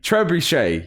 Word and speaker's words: trebuchet: just going to get it wrong tres trebuche trebuchet yeah right i got that right i always